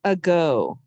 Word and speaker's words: ago: a long time ago this has two syllables the first syllable a second syllable go the uh sound we use the a a often says uh at the very beginning or very end of a word like a go and about and around so uh and then